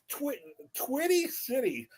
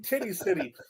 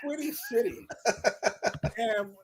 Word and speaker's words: Twitty City: Twitty City. I keep on saying Titty City, but Twitty City.